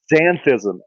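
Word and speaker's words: xanthism: Zanthism. It starts with an X and then it has an behind it. So, I'm assuming that's pronounced zanthism.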